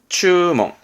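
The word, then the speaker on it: 注文: 발음은 추멍. 주문할 땐 추멍. 주문의 추멍.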